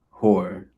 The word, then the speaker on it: Hoare: Um, yeah, Heron Hor. It's spelled Hoare.